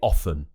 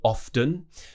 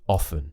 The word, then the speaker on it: often: If you're looking for a received pronunciation, you would say often without the T. So it wouldn't be often, it would be often.